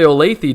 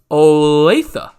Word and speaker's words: Olathe: pronounced your town right you probably thought i was going to say olathe didn't you you guys probably thought that i was going to say olathe but it's actually olathe and the reason why